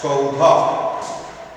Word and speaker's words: সৌধ: বন্ধ রাখছি না, কারণ শেষে স্বরধ্বনির উচ্চারণটা আছে, সৌধ সৌধ বলছি না আমরা, সেই হিসেবে এখানে যখন বিশ্লেষণ করবো এই সব ক্ষেত্রগুলোতে আমরা অ লিখে সেটা বন্ধনী রাখবো না। দন্তস্বয় ওকার ধ অ, সৌধ।